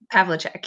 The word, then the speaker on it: Pavlicek: Did I pronounce that correctly? Pavlicek, yeah.